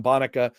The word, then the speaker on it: Bonica: data and democracy with Dr. Bonica, uh, pronounced like Monica, uh, professor of political science, Stanford University.